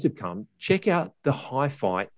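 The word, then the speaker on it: HiPhi: from china actually said what's a hi-fi x and i had exactly the same question in mind and it is in fact pronounced hi-fi and their main product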